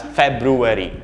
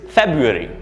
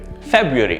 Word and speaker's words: February: is often mispronounced as february february this is incorrect this is not how you pronounce the word that word the correct pronunciation is february february notice how everything flows softly and smoothly february right february february